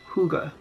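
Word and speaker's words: hygge: and it says this word right here is pronounced Kouga and it is a Danish word that basically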